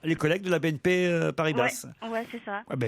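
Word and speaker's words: Paribas: Et ben voilà, les collègues de la BNP Paris-Basse. Ouais, c'est ça. Ah ben ils vont être contents. Paris-Basse donc. J'ai dit quoi? On prononce le S. Paris-Basse. Bah oui, j'en prononce le S, non? Paris-Basse? Non.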